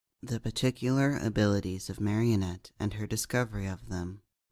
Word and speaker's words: Marinette: The Particular Abilities of Marinette and Her Discovery of Them by Plants Are Fun 06, a Miraculous Ladybug and Batman crossover fanfic. Marinette, pronounced Marinette, name meaning failure, nuisance, waste of space, insurance.